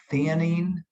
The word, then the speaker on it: theanine: biomes sleep we add l and i always butcher them it's theanine is that correct yes l-theanine i always stumble